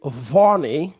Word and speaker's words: Vani: Okay, so let's begin with Vani, right, David?